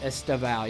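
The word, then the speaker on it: Estêvão: How do you pronounce this guy's name again? Or Liverpool. Who's the Liverpool guy? Estevao? Estevao, yeah.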